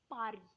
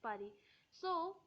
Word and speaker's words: Paris: has a friend named Pari so it's party is Paris but in France we say party because in France we actually usually skip the last letter we don't pronounce it it's silent in uh every last